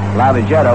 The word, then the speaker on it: Lavagetto: Before the ball game, we were talking to Cookie about pronunciation, about the pronunciation of his name, saying that we call it Lavagetto, which he calls it, and then we hear from all sorts of people who say you ought to call it Lavagetto.